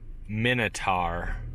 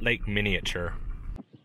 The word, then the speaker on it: Minatare: Recreation Area so I just realized I've been pronouncing this wrong the whole time it's lake Minotaur not or Minatare not Lake miniature seems like every place they told me to